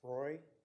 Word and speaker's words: Roy: you my name is Roy um just like it sounds last name is spelled Ro Y and I am also